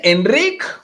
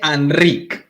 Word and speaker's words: Enric: el doctor enrick H anri se dice Enric o se dice anri Mira es un nombre Catalán entonces en catalán tenemos lo que se llama la vocal neutra que es una es